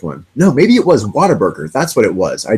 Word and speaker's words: Whataburger: out loud I'm like water burger even though people you know see it's spelled with what wn8 burger it's what a burger but people say water burger and as a child